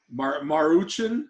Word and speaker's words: Maruchan: That's No, but apparently like 7 people got sick at the Maruchan. I don't even know how to pronounce it.